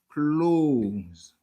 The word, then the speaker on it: clothes: Comme ça, vous doit attendre, il y a des gens qui prononcent le mais vraiment, prononciation, c'est close.